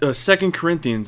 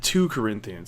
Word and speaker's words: 2 Corinthians: ones like doing wrong it was second Corinthians and he gave the other verse numbers when you know it 2 Corinthians like that's not how you pronounce it and oh I know